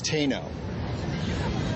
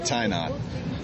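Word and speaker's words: Tainot: class is speech 27 and her name Mercedes Teno not SP right spelled t a i n o t not tyot so naturally is your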